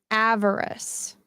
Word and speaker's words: avarice: are like typically evil so I don't know avarice did I pronounce it right that time Cecil would be